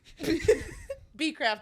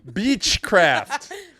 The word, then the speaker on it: Becraft: Becraft, exactly how it's spelled. Beechcraft.